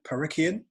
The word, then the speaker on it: Parikian: got a really special guest today uh parikhian and i hope i've pronounced your surname correctly you have and you've